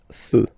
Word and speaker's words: feux: You don't put S, but you will put X instead, and then you don't pronounce it. Des feux.